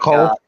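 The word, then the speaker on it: קוף: Also, so don't think of it with a Q, even though that's like Q comes from cough. Just say it like cough, like Cough? yeah. Say Okay. it like cough, but German.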